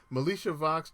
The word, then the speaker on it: Militia Vox: police front line assembly militia vox i actually learned how to pronounce her correct her name correctly melisha vox twin tribes and angels